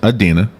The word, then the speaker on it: Idina: UH-DEEN-AA, so it's Idina, Right.